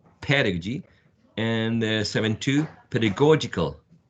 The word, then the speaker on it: pedagogical: you will have a an idea about the pronunciation of this one which is pedagogy pedagogy pedagogy and seven two pedagogical pedagogical there are many words that many people think